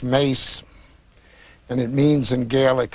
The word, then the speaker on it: Maas: in ireland in ireland spelled the same as the dutch version and it's pronounced mace and it means in